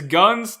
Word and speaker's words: Ghuntz: It is What About Things man from Sweden, and it's Ghuntz, the Unz Ghuntz. His name rhymes with the soundtrack from Redline.